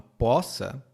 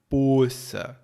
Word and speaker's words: poça: coisa aqui no Brasil essa palavra tem duas pronúncias pode ser possa ou Poa um aberto ou fechado e vai variar de acordo com a região Então se disserem Ah